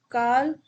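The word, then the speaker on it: Karl: तो Darwin, Enrico Fermi, और रोंटजेन, कार्ल, कॉर्ल, call भी कुछ लोग बोलते हैं, कुछ लोग कार्ल भी बोलते हैं, जो आपको मन हो बोल लो, इन इंग्लिश नेम मुझसे होते नहीं है प्रोनाउंसिएशन।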